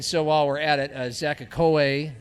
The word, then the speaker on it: Akue: And so while we're at it, Zach Akue, is that how you say it? Akui. Yeah. Akui, a registered nurse, a refugee from Sudan, who's lived in Sioux Falls most of his life.